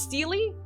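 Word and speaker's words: stele: memor memorialize individuals battles and other important events steely okay thank you steely all right we need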